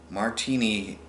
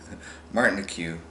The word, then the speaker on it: Martinique: Named later Josephine of Martinique, it's Martin IQ, Martinique, the Empress.